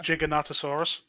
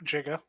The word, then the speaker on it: Giganotosaurus: so um it's not by the way that's pronounced Giganotosaurus so the Giga here no no jiga it's a jiga starts at medium and goes